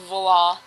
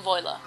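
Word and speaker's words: voilà: Before you ask, yes, I know it's pronounced voila. I just like saying voila.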